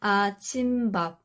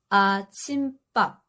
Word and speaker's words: 아침밥: And this one isn't 아침밥. It's 아침밥.